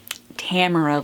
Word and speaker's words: Tamora: I pronounced it phonetically. Tamora, like camera.